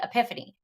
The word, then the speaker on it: Epiphany: Christmas and that comes a day called The Epiphany rhymes with Tiffany or three kings day